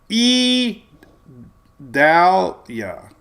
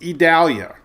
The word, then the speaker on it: Idalia: It would be, E. Dalia. It's Idalia.